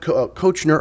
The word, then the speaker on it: Koechner: so they all said kechner nowhere in the english language does the oe make the short e sound so we're saying it